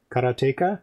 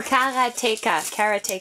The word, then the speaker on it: Karateka: got it carrot taker karateka karateka karateka karateka i know it's probably no but i know that sounds a little too much like erotica but sure yeah karotika